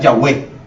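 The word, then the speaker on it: Yahweh: H W h y se pronuncia yahwe yahwe y se escribe se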